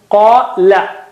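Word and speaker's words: قال: Qala Allahu, qala is thin.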